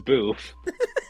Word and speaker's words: B33F: It's beef, but it's spelled B33F. It's not even beef. It's boof.